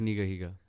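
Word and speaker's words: Nigahiga: Pronounced Niga Higa.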